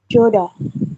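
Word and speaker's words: 좋다: Yang ini dibacanya Joda. ya, joda. Jadi hanya hilang ya.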